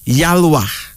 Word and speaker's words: Yalwa: Then there's a next male name called Yalwa.